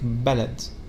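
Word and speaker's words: بَلَد: so it can have when you combine it with fat it will be like ballad the word ballad means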